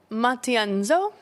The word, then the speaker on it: Matienzo: I want to pronounce it correctly. Tin Matienzo.